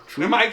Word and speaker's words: pneumatic: Pneumatic tubes.